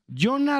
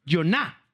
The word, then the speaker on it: Iona: Porque yo diría Jona Roffeld, pero es Joná.